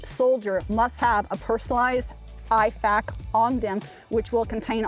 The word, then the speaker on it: IFAK: And one little detail here, guys, please pronounce this acronym correctly. It's an IFAK, right?